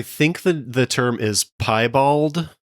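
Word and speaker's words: piebald: I think the the term is pie bald.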